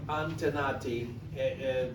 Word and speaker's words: Antenati: Antenati. How do you spell it, do you know?